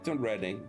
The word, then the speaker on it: Reading: They reading the city kept mistakenly pronouncing as reading.